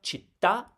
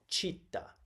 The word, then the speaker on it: città: Remember, città is not città. Normally, I would read that città as Italian, because as an Italian, I have ingrained in me the idea that the second to last syllable has the stress.